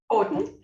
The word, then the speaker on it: Houghton: So that's Christine, how do you pronounce it? Houghton.